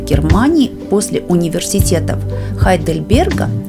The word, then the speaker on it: Хайдельберга: Университет Грайфсвальда был основан в 1456 году и является четвертым старейшим в Германии после университетов Хайдельберга или Гейдельберга, как было принято произносить это название ранее, Лейпцига и Ростока.